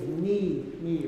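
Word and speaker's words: nie: Yeah, remember N-I-E is knee, right? If the cheat is, if it's an I-E or an E-I, it's like the second vowel is what you pronounce, right? Knee.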